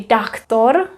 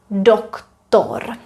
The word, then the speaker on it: doktor: For example, doktor. You're probably tempted to say doctor, but in Czech it is doktor because we have O.